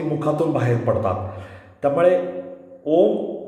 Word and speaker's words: ओम: मुखातून बाहेर पडतात त्यामुळे ओम उच्चारण करताना आपला उच्चार हा शुद्ध स्वरूपात बाहेर पडत असताना अ उम ओम म्हणत असताना अ म्हणत असताना पोटावरील पोटातील व्हायब्रेशन वर लक्ष द्यायचंय अ उ म्हणत असताना छातीमधील व्हायब्रेशन स्पंदनावर लक्ष द्यायचंय अ